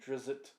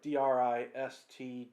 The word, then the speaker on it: Drizzt: kid that calls him drizzit but it's pronounced like d-r-i-s-t drist but let me go